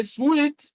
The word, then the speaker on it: suite: Now, a suite is a room or a set of rooms in a hotel. So, suite. And so let's look at a word that rhymes with sweet.